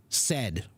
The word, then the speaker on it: said: that well guess what it's actually it's easy you just have to pronounce it like a short e s e d said s ed s Ed Ed like the word uh like the word education education that's better yeah now